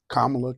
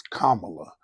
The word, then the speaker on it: Kamala: of pronouncing her name no it's only one way to pronounce her name and it is Kamala but others followed suit even Brothers in my circle followed suit calling her Camala and that would just